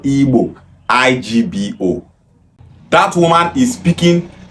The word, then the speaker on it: Igbo: River Niger down to the southeast is called Igbo, IGBO.